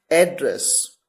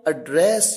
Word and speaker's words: address: Pronunciation का मतलब उच्चारण। देखिए, वर्ड है ADDRESS, एड्रेस।